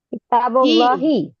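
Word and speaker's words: كتاب الله: Maka Allahnya bacanya apa, Ibu? Kitabullahi.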